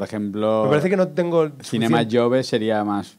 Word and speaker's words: Cinema Jove: es bueno aquí sería Cinema chove Cinema chove pero por ejemplo parece que no tengo Cinema yove Sería más pronunciado como en Cataluña Pero al final aquí se dice más cho más ch vale creo que si